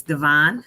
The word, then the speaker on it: Devon: So when you came on, I said Devang, and then later I said it again, and you said it's Devon.